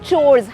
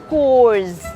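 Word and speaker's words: chores: It's called चोर्स। Household चोर्स। Not household कोर्स।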